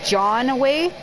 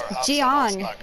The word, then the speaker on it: Jiang: Do you guys always say his name wrong? It's like they're saying John away. It's Jiang.